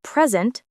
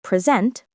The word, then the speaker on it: present: For example, in present, noun, the stress is on the first syllable. In present, verb, it's on the second.